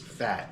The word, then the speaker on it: Phat: vinegar the name of the company is fat it's spelled p-h-a-t balsamics and uh olive